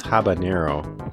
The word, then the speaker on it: habanero: to fall into the you want to say it like jalapeno but it's habanero um yeah they just